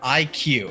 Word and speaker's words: iQue: Is it Retro Studios, Game Freak, Monolith Soft, or IQ? And that's spelled IQUE.